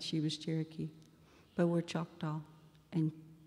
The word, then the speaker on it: Choctaw: was Cherokee, but were Choctaw and Chickasaw, or Chitta, which is the way we pronounce it, and Chicksa, who were brothers.